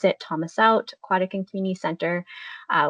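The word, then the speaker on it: təməsew̓txʷ: And, uh, you pronounce it, Thomas Out Aquatic and Community Center, uh, which opened in 2024.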